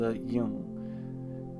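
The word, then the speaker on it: 이응: This is called a yung. At the end of a syllable, this symbol makes the ng sound, or ng.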